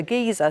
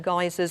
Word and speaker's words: geyser: geyser of Old Faithful I was calling it a geezer so I've sorted about geezers and boats instead of geysers and buttes here's another oil on